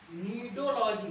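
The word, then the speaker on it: Cnidology: नीडोलॉजी, सी यहाँ पर साइलेंट होता है।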